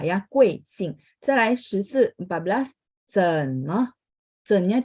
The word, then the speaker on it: 怎么: 怎么? 怎nya 3 ya. Jadi diayun dulu baru nyambung ke sampingnya ya. 怎么? 怎么? Me-nya pendek dan ringan. Teman-teman lihat nggak ada tanda ya.